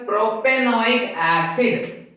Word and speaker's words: propanoic acid: The first, propanoic acid, we pronounce as propanoic acid.